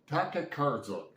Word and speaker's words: Tokarczuk: I know how to pronounce this, I just forgot. Tokarczuk, Polish writer.